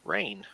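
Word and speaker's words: Reine: very beautiful city of rain okay and then that rain is spelled our e-i-n-e not as in the precipitation the city of rain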